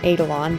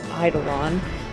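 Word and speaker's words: Eidolon: almost called them Adidelon, but that's one, that's the wrong pronunciation, and two, it's Idolon, and three, that's not what they're called in this game.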